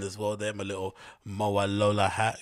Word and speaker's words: Mowalola: isn't it it's not mawalua it's MOA Lola right yes she was the